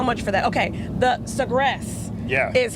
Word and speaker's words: Sagres: Okay, the Sagres. Yeah. Is how you pronounce that.